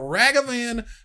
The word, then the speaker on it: Ragavan: And Ruben, tell us about Ragavan Nimble Pilfer. So, more pronunciation guide for you.